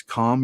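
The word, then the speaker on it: Kahm: It's called a calm yeast, and it's definitely going to be on that fruit. And it's spelled KAHEM. It's a wild yeast. It's calm yeast, and it'll create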